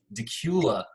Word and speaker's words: Dacula: that pronounced correctly chris is it like dak Euler like Dracula the vampire everybody says that is Dacula Dacula okay well it shows